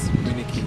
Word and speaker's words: Miniki: It doesn't matter. It's just Miniki.